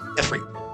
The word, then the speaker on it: Ifrit: Ifrit. And more modern games that do have voice acting, whenever Ifrit gets mentioned, that is how it's pronounced, is with the long E sound.